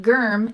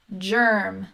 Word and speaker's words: germ: the dictionary you say okay it's not germ it's germ soft g next we have ng